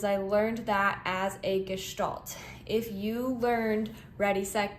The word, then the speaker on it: Gestalt: are talking about just gestal is technically the way that I think it's best pronounced G gal although I've heard it many different ways from what I hear gestal is the most correct pronunciation so when we are